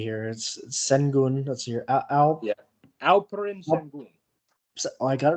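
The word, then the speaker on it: Şengün: Yeah, Alperen Al Sengun.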